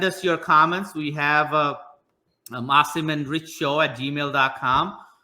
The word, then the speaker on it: Asim: Is it Asim or Asim? I need to know. Well, it's Asim. If you can pronounce it, it's Asim. Has been all my career life, so they're both fine.